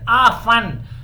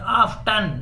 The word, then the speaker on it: often: ऑफन, T silent हो गया, आप टी के साथ भी बोल सकते हैं, यानी ग्रामर के मुताबिक इसके दो प्रोनाउंसिएशन हैं. टी बोले भी सही है, न बोले तो भी सही है. Number 1 pronunciation ऑफन, number 2 pronunciation ऑफ्टन, दोनों सही हैं.